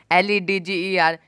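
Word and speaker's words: ledger: जरूर हुआ है लेकिन दी का कोई भी उच्चारण नहीं हुआ है मतलब झाड़ी लेजर लेजर लेजा मतलब होता है बाकी खाता क्या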